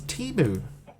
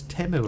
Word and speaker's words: Temu: Apparently it's pronounced Temu. I always thought it was Timu. I've been calling it Timu this whole time. It's Temu, apparently.